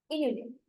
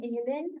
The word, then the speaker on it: inulin: So inulin, I believe that's how it's pronounced. Inulin. Seems like insulin, penicillin, inulin. So it's a generic term